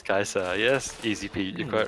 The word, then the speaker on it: Caesar: which is you know i approve of the technical correct latin yeah it is kaiser yes easy pete you're